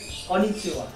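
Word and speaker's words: こんにちは: Konnichiwa. Atau Konnichiwa. Konnichiwa atau apa? Iya. Ini sebenarnya saya bilang sebenarnya ini tulisannya, tapi dibacanya ini.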